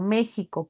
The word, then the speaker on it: México: a la letra X Siempre y cuando tenga este sonido como J palabras como México por ejemplo en cambio esta al violar la s también puede representar a la x pero su pronunciación va a ser distinta no por ejemplo xenofobia o xilófono no es igual a decir por ejemplo México no